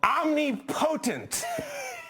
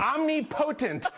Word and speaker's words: omnipotent: the omnipotent all-important buzzer you put omnipotent I think you definitely put the emphasis on the wrong syllable they're omnipotent Thank You Pater's regard